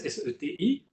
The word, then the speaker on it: SETI: C'est SETI, comme ça se prononce, SETI, @home.